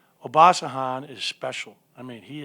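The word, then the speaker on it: Obasohan: say his name obasan how do you say oh bah sahan is special i mean he is special i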